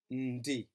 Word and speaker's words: ndi: I am, ndi. Remembering again that ndi sound should not be separated and that you shouldn't pronounce it as n. D, but rather as ndi, as though you're saying the word in.